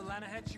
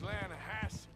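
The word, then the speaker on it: Lannahechee: rolled down to the Lana Hetchy river I caught some beautiful steelhead trout you mean the Lana no no Lana hatch it runs right near here yeah it's pronounced Lana Hass why is everything in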